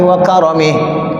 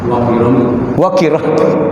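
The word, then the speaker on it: وكرمه: ta'ala minal aminin birahmatillahi wa karamih. Wa karamih pendekin. Enggak ada wal karamih, kagak ada. Harus dipendekin. Wa karamih. Saya buka di YouTube satu ada. Namanya dia bacanya wakiromi. Ya enggak ada wakiromi.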